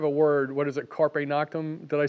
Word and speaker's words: carpe noctem: But these people that are the high-level code writers, they have a word, what is it, carpe noctem?